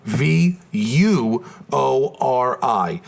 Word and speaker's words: Vuori: Now, it's not spelled exactly like it sounds. It's spelled VUORI.